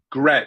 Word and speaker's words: Grech: how do you say your last name one more time? Grech. Grech. Absolutely not the Grinch.